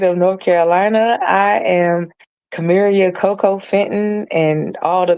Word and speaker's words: Carmaria: Pronounce it again. Carmaria. Carmaria.